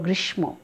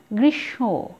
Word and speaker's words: গ্রীষ্ম: এখানে রয়েছে গ্রীষ্ম, এই উচ্চারণটিও তোমরা ভুল করো, তোমরা কি বলো? গ্রীষ্ম, গ্রীষ্ম নয়, সঠিক উচ্চারণ গ্রীষ্ম, একটুখানি নাসিক্য হয়েছে যেহেতু ময়ের উচ্চারণটা আমরা পাচ্ছি না এখানে।